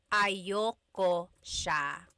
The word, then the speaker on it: ayaw ko siya: Usually it's pronounced ayoko siya. So if you want to sound a little bit more natural, you put everything together, ayoko siya. Ayaw ko siya is ayoko siya.